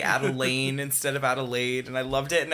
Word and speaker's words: Adelaide: say adelaine instead of adelaide and i loved it and i never wanted to correct him on it because i'm just like oh baby that's so wrong adelaine adelaine instead of adelaide and i'm like yup